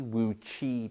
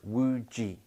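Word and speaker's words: wuji: this posture we call wu ji and that is spelt w-u-j-i it's quite confused with the word chi wu chi people call it it isn't that it's woo g w u j i and would g if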